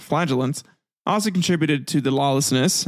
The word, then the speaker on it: flagellant: in thousands the flagellant yeah that okay now I remember how to pronounce it flagellant also contributed to the